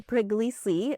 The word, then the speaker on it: Puglisi: Puglisi, thank you so much for joining us. We were just kind of giving your name the Italian pronunciation, so I felt like, oh, we got it.